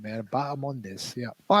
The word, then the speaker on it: Bahamondes: Kenny, I don't know if you could tell us why that H is silent, but the important point on this athlete is that it is Bahamondes and not Bahamondes.